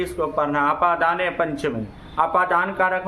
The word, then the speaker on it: अपादान: दिक्कत कर देते हैं उच्चारण में इसको अदान बोलते हैं अदान नहीं होता अपादान कारक बोलेंगे और अपादान कारक में